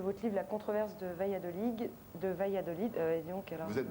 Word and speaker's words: Valladolid: Je rappelle juste le titre de votre livre, La controverse de Valladolid. Et donc, alors... Vous êtes d'origine espagnole? Oui, tout à On fait. prononce pas le D à la fin.